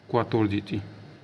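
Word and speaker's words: quattordici: double T ओ आर जी आई सी आई क्वार जी चतोर द ठीक है दोस्तों उसके बाद 15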